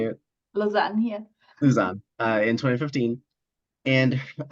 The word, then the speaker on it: Lausanne: Lausanne, yeah.